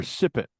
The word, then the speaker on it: sippet: with the emphasis on sip. I wonder if it's I always Sipet.